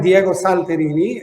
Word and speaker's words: Diego Salterini: your full names i'll let you do the pronunciations because i didn't want to screw them up i am diego salterini and you are i am anthony velasquez all